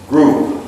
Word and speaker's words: group: There's just it's just a little bit of a P at the end. Group like group. It's that hardly you can hardly hear it, but it's there.